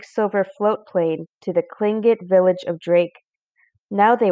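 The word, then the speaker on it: Tlingit: was a clingit indian pronouncing clingit proudly with a clicking of his tongue as if today to say cling kit he was built like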